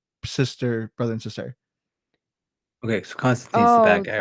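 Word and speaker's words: Konstantin: I thought it was pronounced something like a little different, but it's spelled like Constantine. Constantine. Oh, it is Constantine.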